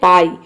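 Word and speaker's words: buy: जैसे कि देखिए यहाँ पे है बाई, तो बी का हो जाएगा बॉ और यू वाई का हो जाएगा आई, ये हो जाएगा बाई।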